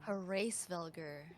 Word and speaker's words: Hraesvelgr: Hraesvelgr. There we go. That's how you pronounce it.